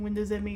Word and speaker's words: Windows ME: They were really pushing home networking when Windows ME first came out. I know some people say it's pronounced Windows Me, but I always said it as ME because it's an acronym standing for Millennium Edition, but now we're going into the language options.